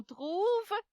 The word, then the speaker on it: trouve: Ensuite, il, elle, on trouve. On sait que c'est le verbe trouver. On ne va pas prononcer le E.